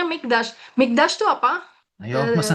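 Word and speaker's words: מקדש: Ini bacanya Mikdash.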